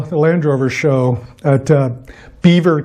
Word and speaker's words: Belvoir: So I've got about 4 weeks until the Land Rover show at Belvoir Castle, apparently the Brits pronounce it, even though it should be Belvoir, the Land Rover Owners Show.